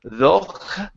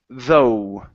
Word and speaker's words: though: Okay, so remember in this word, the GH does not make a sound. So instead of though, okay, it's only O, though.